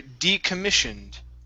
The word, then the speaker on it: decommissioned: All right, this word here, decommissioned. Okay, short I sound instead of decommissioned.